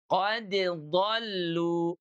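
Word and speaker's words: قد ضلوا: Jadinya qad dhallu, qad dhallu. Tuh. Jadi jangan qad dhallu. Ini banyak yang keliru di sini nih teman-teman ya. Banyak yang ketukar dikiranya adalah idgham, padahal tidak. Qad dhallu, dibacanya begitu ya.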